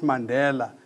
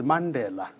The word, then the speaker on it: Mandela: When everybody calls the word Mandela and so on, we're the only one that calls it properly. And the proper pronunciation is Mandela. That is the proper pronunciation of the word, of the name, of the surname, as it were.